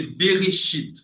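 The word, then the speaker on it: בראשית: Mais la lettre la première lettre euh voilà le le c'est une lettre c'est une lettre qui est non ? Donc on ne le prononce pas. Donc c'est Berichit. Berchit.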